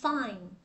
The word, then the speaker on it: fine: Nếu mà chúng ta nói là I'm fine là nó có âm đuôi n, mình đọc là I'm fine, fine, đúng không?